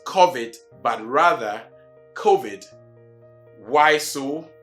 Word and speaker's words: COVID: So it is COVID and not COVID, right?